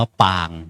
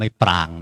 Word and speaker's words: ปาง: ทรง ปาง ต่าง ๆ อ่าน ว่า ปาง ไม่ ปราง นะ ปาง ปา สระ อา งู เนี่ย ต่าง ๆ มาก